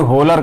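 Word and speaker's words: Wöhler: वैसे स्पेलिंग होती है होलर करके बोला जाता है, लेकिन हम लोग बोलते हैं ओहलर, होलर।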